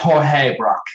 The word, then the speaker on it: Georges Braque: It's pronounced Jorge Braque.